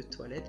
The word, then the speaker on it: toilet: The loo, notez bien le E de toilette qui se prononce toilet, ou the loo.